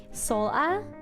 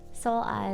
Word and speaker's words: Sola: Sola, like soul. Sola is how you pronounce my name.